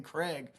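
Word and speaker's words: Kregg: and he's he's uh General Craig in the comic which is spelled K R E G G. But in the TV show we realized that he would just be General Craig which just sounds like the name Craig.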